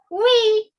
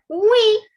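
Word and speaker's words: oui: say yes in french you will say we so the spelling is o u i with the pronunciation is we all right so if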